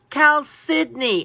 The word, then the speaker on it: chalcedony: And he goes, chalcedony. And I'm like, what? It doesn't even look like it's spelled at all, right?